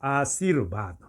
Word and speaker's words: आशीर्वाद: है जान ले कि रेफ जिस अक्षर पर या जिस ध्वनि पर या जिस मात्रा पर लगाया जाता है इसका उच्चारण उसके पहले होता है यानी कि ब पर